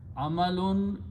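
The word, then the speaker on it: أعمالٌ: So full word is amalun. A'malun, if I wrote, you can write down separately or together as it is written there, short alif, but the word is pronounced a'malun. A'malun means deeds or actions.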